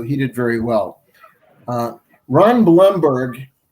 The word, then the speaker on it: Blomberg: did very well ron blumberg pronounced bloomberg even though it's spelled blomberg he is uh he